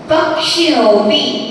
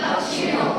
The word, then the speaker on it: पक्षी: तो का लिख लेंगे प के बाद क्या बोला है पक्षी ठीक है ना एक बार फिर से